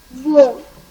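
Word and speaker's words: veau: Okay, and the last one, if there is AU or EAU inside a word, we pronounce it simply as O. O. O. With rounded lips.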